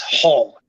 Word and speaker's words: Hull: yeah Kevin hole yeah not Paul like h-a-l-l it's Hull h-u-l-o hole in the wall yep okay that's what